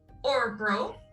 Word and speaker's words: Örebro: So you're in, we looked up how to pronounce this and I already forgot again. Örebro, which is the fourth largest city in Sweden at this point in time.